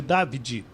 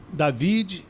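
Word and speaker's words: Davide: de Dad, é de David, então não é David, não é David, é Davi. Você bota um acento no A, né? O nome dele se escreve D A V I D E Antielot tem 35 anos.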